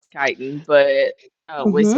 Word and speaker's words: chitin: And for the record, Bernie, I'm aware it's pronounced chitin, but we Mm-hmm.